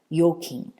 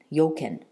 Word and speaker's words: Joachim: Frederick and his brother yokin and I'm hope I'm saying that correctly um I'm saying it based on um the Danish Dutch Scandinavian where J is y so yokin yoken yoken I believe they